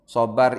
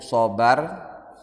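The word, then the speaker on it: صبر: Sabar ini bahasa Arab yang sudah menjadi bahasa kita sehari-hari, walaupun pengucapannya menjadi sedikit beda. Aslinya itu sobar, begitu di Indonesia kan jadi sabar, di shotnya berubah jadi sa.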